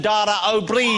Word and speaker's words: Dara O'Brien: Dara O'Brien? That is the correct pronunciation, isn't it, Dara? That's really good. O'Brien. Yeah. Shockingly good, yeah.